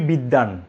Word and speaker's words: বিদ্বান: আপনি প্রথম শব্দে ব উচ্চারণ করেছেন, এই শব্দে ব উচ্চারণ করছেন না কেন? নিশ্চয়ই একটা নিয়ম রয়েছে। আমি বলি খুব সহজ নিয়মটি, যে যদি শব্দের মাঝখানে বা শেষে ব ফলা থাকে, তাহলে ব এর উচ্চারণ হবে না।